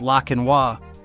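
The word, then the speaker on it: Laekenois: The Belgian Lekenois, pronounced La Quinois, is proof that you can be related to a superstar and still get completely ignored.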